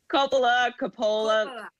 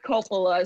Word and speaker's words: Coppola: Coppola. Yeah. No, well, how did you pronounce it?